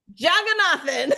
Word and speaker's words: Jagannathan: Jagannathan.